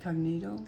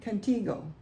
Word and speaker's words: Contigo: Cognito? Contigo? Canita? T, Tygo. Is it her G? Yeah. C-O-N, Contigo.